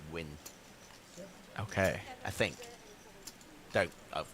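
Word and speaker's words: Nguyen: I mean, by the way, I think the Vietnamese pronunciation for that surname is win.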